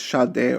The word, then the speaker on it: Schade: This is a German name, so I think in German it's Schade or something like that.